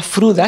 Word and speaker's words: Frode: es el profesor Fruda, se escribe o se pronuncia Fruda, se escribe Frode, que sería como el Frodo, de los anillos, de la película de los anillos, del Señor de los Anillos, y también el profesor